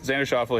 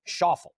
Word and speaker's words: Schauffele: You should never have a name that rhymes with awful.